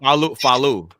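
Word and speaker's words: Falu: Funkace, Wuang, Method Man, Rizza, Mathematics, Jiza, Fallu. Am I pronounced Fallu? Faloo.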